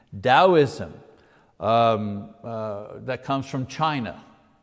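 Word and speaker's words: Taoism: first of which is dosm you know you pronounce the T like a D dosm um uh that comes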